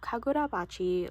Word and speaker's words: Kagurabachi: I kept pronouncing this part and forgetting to pronounce the K-A. So I have Kagurabachi volume 3.